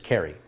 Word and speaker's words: Carey: called a lot worse think of Cary Grant or Mariah Carey or Drew Carey or Jim Carrey my name is Carey all right what's my